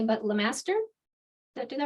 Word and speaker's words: Lemaster: double check um that I was have been pronouncing your name correctly but Lemaster does that do that right yeah okay perfect